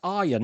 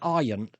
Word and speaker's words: Arion: I'm I'm saying Aaron, but it's Aryan, isn't it? I'm sorry, I'm I'm it's Aryan. I'm mispronouncing your name.